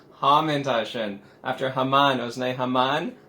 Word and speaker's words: Haman: After Haman, it was named Haman. Haman was his name, not Haman, not Haman.